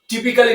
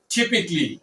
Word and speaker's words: typically: এর সঠিক উচ্চারণটি হবে ইউজুয়ালি। Usually As usually. এই ওয়ার্ডটিকে আমরা টিপিক্যালি না বলে টিপিকলি টিপিকলি বলতে পারি।